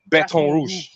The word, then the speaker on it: Baton Rouge: rouge or red stick baton rouge that's how you say it in french baton rouge it says other stories